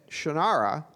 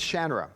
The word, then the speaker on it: Shannara: so then uh when I saw the writers were pronouncing it Shara I said guys that's not how you say it it's shra and I said uh